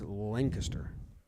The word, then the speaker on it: Lancaster: were saying there's two different no just don't pronounce it like a noob it's lancaster i've never heard you say noob and i